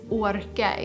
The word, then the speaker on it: Aarke: Aarke, which I want to pronounce Aarke in my mind, because in old Swedish and old Danish ways of spelling the letter Å, which is the A with a circle, was to spell it with 2 A's.